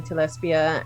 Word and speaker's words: Telespia: And this one is Telespia, or, there's different ways of pronouncing it, but I say Telespia, and lots of like little islands.